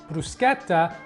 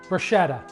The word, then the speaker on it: bruschetta: is mushroom and ricotta bruschetta and yes it's pronounced bruschetta not bruschetta now you may associate brusqueta with the ever